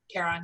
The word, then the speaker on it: Charon: Is that how you pronounce it? Charon, yeah.